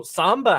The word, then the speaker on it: Samba: So Samba, like the dance.